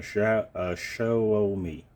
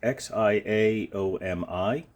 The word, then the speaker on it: Xiaomi: here is xiaomi uh Shia show me it's x i a o m i I know that the X and Mandarin is pronounced with a shh instead of a z or a uh something